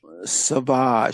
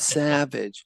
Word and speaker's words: Savage: Savage, say it right, not Savage.